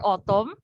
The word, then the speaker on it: autumn: just like in your autumn so we spell your autumn as your a-u-t-u-m-n but the n is silent so we don't pronounce